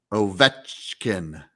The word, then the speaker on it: Ovechkin: Ovechkin.